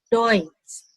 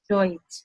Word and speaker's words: Deutsch: Dalam bahasa Jerman, kalau EU ini dibacanya OI, jadinya Deutsch. Deutsch, bahasa Jerman, Deutsch.